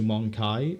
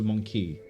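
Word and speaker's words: Mon'keigh: The Monkey. I don't like the way they changed the pronunciation in recent Warhammer to Monkai as opposed to Monkey.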